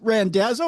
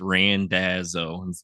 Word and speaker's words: Randazzo: Is it Randazzo or Randazzo? It's Randazzo. It probably had a little more ethnic flair where it came from, but for me, just a country boy here in the Midwest, it's Randazzo.